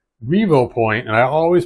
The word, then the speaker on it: Revopoint: have it on here rev Point actually you know what's funny I always called rev point but it's a Revo point and I always pronounce